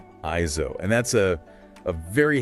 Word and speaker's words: AIZO: That title is read as IO. Iso.